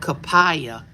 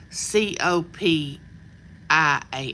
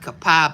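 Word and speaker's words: Copiah: in is, excuse me, it's called Capaya. C O P I A H. But people want to call it Copia that aren't familiar with our area. They want to pronounce it Copia instead of Kapaya. But it's really Indian. It's a Indian name.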